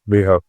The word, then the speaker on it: Leeho: Now we have Leeho, and am I pronouncing it correctly? That's right, Leeho.